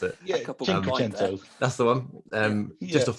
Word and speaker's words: Cinquecento: I can't even pronounce it. Yeah, Cinquecento.